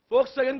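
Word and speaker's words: Volkswagen: रुको ना, फोक्सवैगन company का लाइव एग्जांपल लेते। स्पेलिंग में W लिखते पर बोलते समय फोक्स बोलते हैं।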